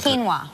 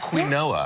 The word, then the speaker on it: quinoa: that's very popular now it's like quinoa oh yeah quino they were saying they were saying they were saying that people say quoa have you ever heard that qu never have you guys ever heard people say queen Noah you have guys how